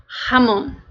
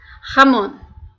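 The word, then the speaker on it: jamón: para ilustrar melhor então o que seria o J A em espanhol ele tem um som semelhante ao ra de português tá colocar aqui uma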